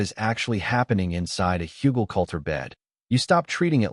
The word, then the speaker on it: Hügelkultur: It's called Hügelkultur. It's pronounced Hügelkultur.